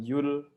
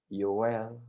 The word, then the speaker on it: Yoel: tolong membuka kitab Yoel kitab Yoel bacanya yowel Ya bukan You'll want ejaan lama ini kitab